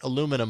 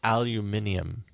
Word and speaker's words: aluminium: It's easier to look at it and think aluminum OS. It's aluminium. Aluminium. Like the eyes for real? Yes. It's aluminium. That's the Brit that's the British pronunciation.